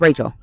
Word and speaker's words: Rachel: I really don't have Raquel. I'm sorry. We're calling her Rachel. Yeah, her name is spelled like Rachel. It's Rachel.